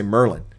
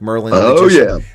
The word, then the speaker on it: Maryland: A lot of people in Maryland don't say Maryland. They say Merlin, like Merlin, and they no one says no one says Baltimore.